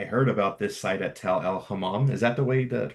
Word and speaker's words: Tall el-Hammam: was when I heard about this site at Tel el-Hammam. Is that the way to pronounce it? Yes, Tal el-Hammam.